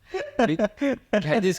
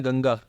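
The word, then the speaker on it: Ganga: know the most important river is गैजी गजस क्या होता है गजस क्या होता है I mean some buddy has miss pronounce your your your reverse name you know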